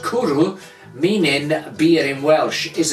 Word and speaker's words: Cwrw: Now, Kuru, of course, as I said, is the Welsh word for beer. And the back of this bottle tells us that Kuru, pronounced Kuru, meaning beer in Welsh, is an international award-winning